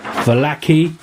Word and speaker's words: Vallaki: So we had just recovered from the kind of being jumped by the wolves and made our way to Vallaki. That's the pronunciation.